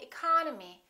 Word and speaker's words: economy: The second syllable is stressed, therefore this E and this O are reduced. We don't say economy, we say economy, economy.